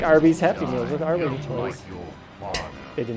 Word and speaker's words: Arwing: Arwing. Yeah, you're saying it right. I'm just being a dick. It's pronounced Arwing.